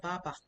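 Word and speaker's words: 爸爸: And maybe the ba you're trying to say is your father, ba ba. Ba ba is the fourth tone down. Or ba ba, you know? But instead of that you say wo ba ba, your ba ba means my pull pull.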